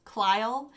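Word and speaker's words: Clyle: to alma and kyle klyle it was kind of a strange name c-l-y-l-e i think i'm pronouncing that right like clyde but kyle so we are introduced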